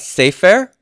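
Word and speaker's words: ספר: And then on the right, we have sefer. So here I have one segol and one sere, but true to form, it does have the first syllable stress.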